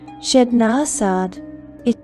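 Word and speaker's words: Ched Nasad: We are going to Chednasad, pronounced Chednasad, the city of shimmering webs.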